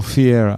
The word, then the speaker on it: Pereira: it i think it's i think in brazil the peas are actually f's so it's michelle fiera yeah something like that